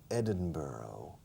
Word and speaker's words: Edinburgh: Pero se pronuncia en inglés estándar Edinburgh, borough, como boro.